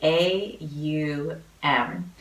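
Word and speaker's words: Aum: the sound of ohm many of us think that ohm is spelled om but is actually a um and if we pronounce a and then you and then M all those sounds it vibrates right at the centre of your throat and allow for some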